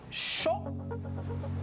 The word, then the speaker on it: chaud: AU se pronuncia como una O. Alors, por lo tanto, yo leo chaud y mauvais, mauvais.